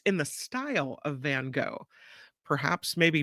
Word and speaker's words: Van Gogh: Meno Park says it's in the style of Van Gogh perhaps maybe not van go but in the